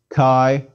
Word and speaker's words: chi: not have in english it's equivalent to a soft k one makes a k sound but lets the air seep through the back of the throat as one pronounces it the air escapes is equivalent to the ch in scottish loch or german you can't make this sound no worries a simple k sound will suffice remember no ancient greek